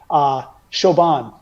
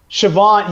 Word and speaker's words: Siobhan: do hear sometimes, and I do enjoy just how culturally its pronunciation differentiates from its appearance here. Siobhan. Siobhan throws me for a loop. S-I-O. You mean Siobhan? Siobhan, yes.